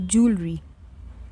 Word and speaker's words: jewelry: No, say jewelry.